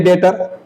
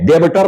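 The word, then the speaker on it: debtor: हमारा पर्सन है ये डेटर जो हमको पैसा देगा डेटर पढ़ना है डेबिटर नहीं बी साइलेंट रहेगा डेटर केवल पढ़ना है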